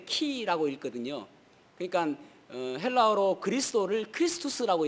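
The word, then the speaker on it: Χ: 근데 엑스라는 말이 그 헬라어로 엑스라는 말은 그 읽을 때 키라고 읽거든요.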